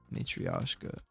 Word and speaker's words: Matryoshka: How do you pronounce that? Matryoshka.